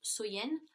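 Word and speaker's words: Samhain: de l'année donc était samen donc qui est prononcé qui se prononce soyen et donc il croyait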